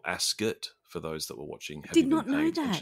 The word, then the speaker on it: Ascot: class English people which apparently it's not Royal Ascot it's Royal asot for those that were